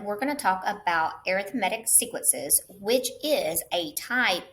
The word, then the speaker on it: arithmetic: So arithmetic sequences, that is how you pronounce this.